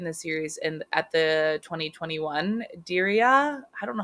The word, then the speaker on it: Diriyah: So Jake is British, and he debuted in the series at the 2021 Diriyah. I don't know how to say this. Diriyah, D-I-R-I-Y.